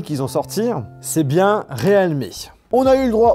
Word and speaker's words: realme: prononciation de la marque, ça se prononce officiellement Realme.